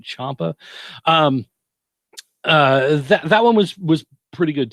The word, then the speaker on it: Ciampa: And again, Aleister Black and Tommaso, I want to say Ciampa, but I'm not sure is that right? Is that how you spell it? Like Chow, right? Ciampa.